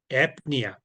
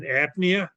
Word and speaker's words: apnea: Because okay, here in apnea, it was AP and then nia.